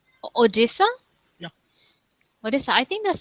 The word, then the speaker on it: Odisha: how do you say it uh it is odisha odisa yeah odisa I think that's the first time